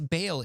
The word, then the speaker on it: Baal: Baal is commonly pronounced as Bale in English, but some also pronounce it as Baal.